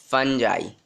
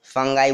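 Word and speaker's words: fungi: इसको फंगाई बोलते हैं, बहुत लोग इसको फंजी बोलते हैं, तो तुम्हारी स्कूल वाली मैडम क्या बोलती है मुझे नहीं पता, पर इसका जो एक्चुअल प्रोनाउंसिएशन होता है वो फंगस होता है, सॉरी इसका फंजाई होता है, इसका फंगस होता है, ठीक।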